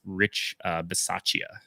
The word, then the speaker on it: Rich Bisaccia: I'm pretty sure his name's pronounced Rich Bisaccia. Sure. Because I would assume it's Italian.